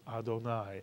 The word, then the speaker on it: Adonai: Baruch Atah, and then instead of saying Irving or Sadie or God's name, we say my Lord or our Lord or O Lord, and we pronounce it Adonai.